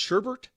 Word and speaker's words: sherbet: So it's not pronounced sherbet. Sherbet. There's no R at the end.